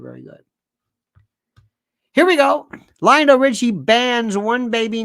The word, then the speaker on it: Lionel: I said, it's Lionel. Rhymes with vinyl.